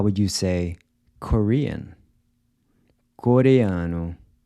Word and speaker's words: Coreano: So here we have a mix of the two sounds, the “a” is pronounced /ɐ/ as in “Cuba” and the “o” is pronounced /u/ as in “boot”.